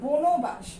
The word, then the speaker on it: বনবাস: কিন্তু এটা কি আমরা বনবাস উচ্চারণ করি নাকি বনবাস উচ্চারণ করি? আমরা এটাকে কিন্তু উচ্চারণ করি বনবাস।